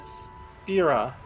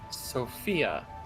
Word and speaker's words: Spira: He said Spira, not Sophia.